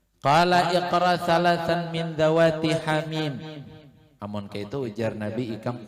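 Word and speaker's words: حم: Membacanya jangan hama lah, hamim.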